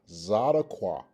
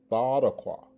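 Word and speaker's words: צדקה: Okay, and this again is pronounced Zadaqua. Zadaqua. Okay, and also the alternative pronunciation is Thadaqua.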